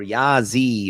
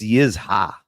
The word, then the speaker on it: Yizha: Yaza or Yazi or Ziza, however you if you pronounce it, it's Yizha. Yizha, not Yah.